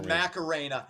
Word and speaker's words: Macarena: It's not Macarena. No, Macarena. Again, it's Spanish.